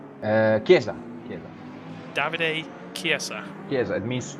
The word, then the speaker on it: Chiesa: How would you pronounce his name? Chiesa.